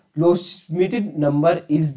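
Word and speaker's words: Loschmidt: question हमारे पास the lows मिटेड number is the number of तो दोस्तों द लो इसमें दोस्तों एस साइलेंट रहता है लोस मिटेड नंबर क्या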